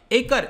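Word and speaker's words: Acre: को मिल रहा होगा एकर, इसका ये इंग्लिश में प्रोनाउंसिएशन तो आई थिंक एकर कहेंगे, लेकिन हिब्रू में इसको एक्को कहा जाता है और अरबिक में अक्का भी कहा जाता है, ठीक है।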